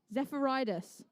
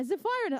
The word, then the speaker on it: Zephyrinus: Zephyrinus? Zephyridus. Zephyridus. Where's the... Yeah, Zephyrinus. I was like, where did the D come from?